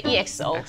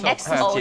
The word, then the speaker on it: EXO: 对，可是台湾很多朋友是直接乖乖的念 EXO，可是发音直接念 XO 就好了，XO，对 XO。